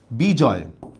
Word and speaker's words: বিজয়: তারপর দেখেন শব্দের শেষে সাধারণত অয় অর থাকলে সেটাও বিবৃত হয়। যেমন দেখেন বিজয়, শেষে দেখেন একটা অয় উচ্চারণ আছে, দেখছেন? শেষে একটা অয় উচ্চারণ আছে, এই ক্ষেত্রে সাধারণত বিবৃত হয়। তাহলে বিজয় শব্দের উচ্চারণটা আমরা কিভাবে লিখব? যা আছে তাই, বর্ষকার বি জ অন্তস্তীয় হসন্ত, বিজয়।